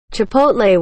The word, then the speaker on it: chipotle: Chipotle when pronounced chipotle. The T comes before the L.